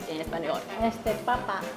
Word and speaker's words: papa: 妈妈给我们啊，马铃薯，en español， este papa，爸爸，其实马铃薯